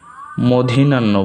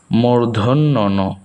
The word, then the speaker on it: মূর্ধন্য ন: অনেকেই এটাতে একটি সমস্যা করেন যে ওইটাকে মধিনান্য বলেন, কিন্তু এটা মধিনান্য না, এটা হচ্ছে মূর্ধন্য ন।